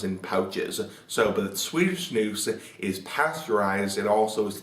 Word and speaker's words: snus: Now snus, S-N-U-S, pronounced snus, not snus, is basically American or